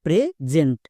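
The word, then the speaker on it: present: এক ভুল হবে না যেমন দেখো প্রেজেন্ট এর উচ্চারণ হবে প্রেজেন্ট কেন কারণ এস এর দুপাশে আবার দুটো ভাওয়েল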